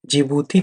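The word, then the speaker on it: Djibouti: जिबूती तो जे से start होना चाहिए, लेकिन नहीं, जिबूती का जो स्पेलिंग है वो डी है आगे, फिर उसके बाद जिबूती है जे।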